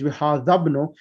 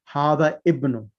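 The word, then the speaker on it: هذا ابنُ: That's the reason why I read it hada ibn. Okay. Okay? So That's but really what's the reasonable. correct way? Hadabnu.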